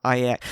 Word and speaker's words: IX: So good for her, and I'm gonna look into that Incognito Wear IX. See, that was the thing. I saw the IX. It's like, surely you're gonna pronounce it 9. Nope, it's pronounced IX.